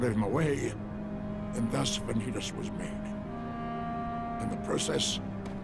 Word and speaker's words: Vanitas: His name is Vanitas. A creature of pure darkness. That's how you pronounce it. One of my making. Vanitas.